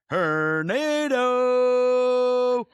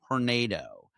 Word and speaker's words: Hornedo: and that is George Hernando. Uh we got clarity his his name does in fact rhyme with Hernando with Hernando and it is pronounced as such.